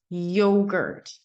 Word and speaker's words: yogurt: So the American Y-O-G-U-R-T, yogurt, yogurt. That would be the more American way.